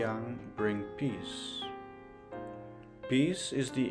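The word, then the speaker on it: 阳: This wordplay arises because the character yang in the I Ching shares the same pronunciation as the character for goat, both pronounced as yang.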